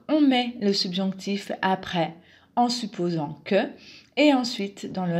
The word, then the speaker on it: en supposant: un connecteur de suppositions la prononciation simplifiée en supposant encore le son z ici pour le la lettre s en supposant que en supposant que